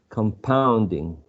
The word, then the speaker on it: compounding: uh primary stress um i will use a schwa in the first syllable because i'm shifting the um sorry the stress to the next syllable so come pound right